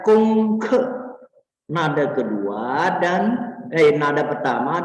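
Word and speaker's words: 功课: J di sini bacanya kong ke, nada kedua dan nada pertama dan keempat.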